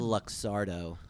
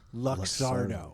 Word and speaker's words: Luxardo: luxury cherry like sugary syrup how do you pronounce that word luxardo luxardo now he gave brenda and i each one